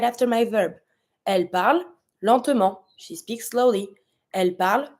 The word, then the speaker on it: lentement: accent, so we say lentement, but you have to pronounce it a little bit. Lentement or lentement. It's up to you. Just know that you're not going to pronounce the T at the end.